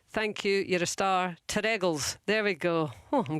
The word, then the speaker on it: Terregles: It's Terregles. The emphasis on the second syllable. Terregles. Terregles.